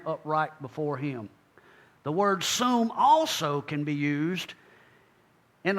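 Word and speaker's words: שׂוּם: That is Strong's number 7760, pronounced sum, and of course it means to set, to place.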